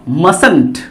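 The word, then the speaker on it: mustn't: तो हमारा वर्ड बनेगा मसंट, बोलो क्या बनेगा, मसंट। यहाँ टी साइलेंट है ना, इसको मसंट पढ़ते हैं हम लोग, मसंट, इसको पढ़ते हैं हम लोग मसंट।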